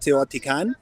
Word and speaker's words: Teotihuacan: We rented a bus, and we all went to the pyramids of Teotihuacan.